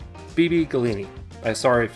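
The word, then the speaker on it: Beebe Gallini: we have puppet show I'm thinking this is how you say it Bibi Galena galini it's b-e-e-b-e g-a-l-l-i-n-i so I think it's BB gallini I'm sorry if it's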